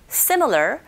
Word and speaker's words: similar: It's somewhat similar, L 발음 들어갔기 때문에 similar 하면서 혀가 끝이 윗니디로 올라가줘야 되고요.